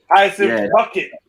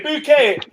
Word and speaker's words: Bucket: up Keeping Up Appearances bucket bouquet she used to say bouquet everyone used to pronounce